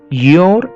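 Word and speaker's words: you're: Okay, യോർ എന്നാണ് ഉച്ചരിക്കുന്നത്.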